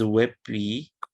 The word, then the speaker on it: WebP: multiple level of transparency and then finally is webp and this is uh this is relatively new